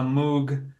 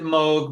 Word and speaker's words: Moog: Live improvisations on a Moog matriarch. Some people pronounce it Moog, but the charlatans here in the northeast of America typically pronounce it wrong as Moog, which is not how you pronounce the name.